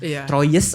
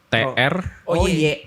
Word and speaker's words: Troyes: Troy trow trow ya Troyes atau T r O Y E S. Nah, bacanya Troya sebenarnya Troya sih TR. Bacanya Troy.